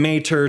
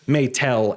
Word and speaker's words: Maetel: English and through that we go from Mater to may tell uh so technically you could say it's mistranslated uh but Matsumoto kept it Matsumoto has embraced may tell as the English pronunciation and my speculation is